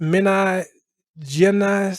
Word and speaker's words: Minas Gerais: But it's basically pronounced Minas Gerais, something like that.